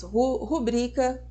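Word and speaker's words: rubrica: palavra novel são paroxítonas rubrika novamente tá vendo e deram o teste Olha só como a gente pega um dos vícios da linguagem elas são paroxítonas portanto acento tónico recai na penúltima sílaba ou seja o bri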